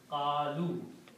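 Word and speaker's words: قالوا: And its plural is by adding a waw at the end, qalu. And this alif is not recited, it's not pronounced.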